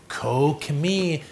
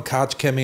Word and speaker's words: Koch Chemie: an all-purpose cleaner from a company kokomi kokomi you knew I knew how to say it how could I not I just like calling them couch Kimmy anyway but today's product